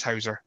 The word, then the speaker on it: Hauser: am joined on this occasion by Big Ross Hauser. Welcome to the show. Hello. Thank you for having me on. Been looking forward to this. Me too. I'm saying that right. It is Hauser, isn't it?